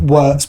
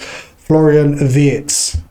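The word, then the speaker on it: Florian Wirtz: I'm going to call him Wartz because that's what it looks like. But his name is actually pronounced Florian Vietz.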